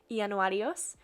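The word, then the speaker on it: Ιανουάριος: So January in Greek looks like this, and it's pronounced Ianuarios.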